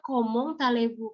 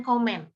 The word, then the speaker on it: comment allez-vous: tulisannya comment allez-vous ya kenapa sih dibajak komong talibu karena memang ada aspek yang dibacanya harus kita ikuti sesuai kaidah nya jadi homo MUI komong i lebih baca ngomong bukan komen apalagi Komeng homo homo nggak bisa